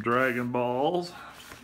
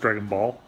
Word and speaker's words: Dragon Ball: Arcade Edition and some Dragon Balls another Dragon Balls another Dragon Balls and another Dragon Balls oh it's just Dragon Ball I was saying it wrong my son says it's Dragon Ball that's a big boy